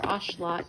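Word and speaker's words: axolotl: I've had to actually treat a uh axelottle or ashelot as they're actually pronounced with this medication when his water got too warm and he got infection.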